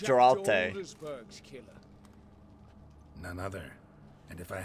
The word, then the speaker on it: Geralt: It's pronounced Geralt.